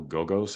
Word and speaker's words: Gogos: also like at the time that he had a great cover artist, Basil Gogos, I think is the way you would pronounce his name, who did these kind